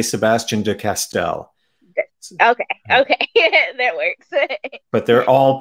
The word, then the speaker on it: Sebastien de Castell: So, how do you pronounce I never know how to pronounce it correctly because it's a French name, and but I've mostly been living in English places most of my life. So I think I say Sebastien de Castell.